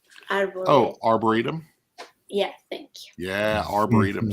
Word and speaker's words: Arboretum: three for you number three um I always mispronounce this are bored too oh Arboretum yeah I think that Arboretum is so beautiful